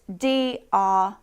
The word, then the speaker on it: drought: And one more thing to note about drought is that the pronunciation and the spelling are quite different. So we spell it D-R-O-U-G-H-T, but it's pronounced drought.